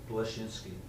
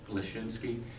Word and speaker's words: Blashinsky: Belinsky, how do you pronounce that again, sir? Blashinsky. Blashinsky, to make $30 a month payments.